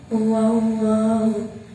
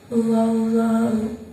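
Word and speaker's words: اللهُ: Pengertiannya apabila ada lam jalalah didahului huruf yang berharokat fathah atau dhamma, maka cara bacanya tebal. Contoh, Allahu.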